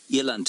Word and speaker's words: eland: thisand aren't they lovely Eland I suppose is what I should be saying Eland is the Africans pronunciation I got shouted at